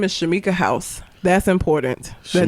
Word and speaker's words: Howse: First of all, her last name being House, it's not spelled the same. It's HOWSE, but still.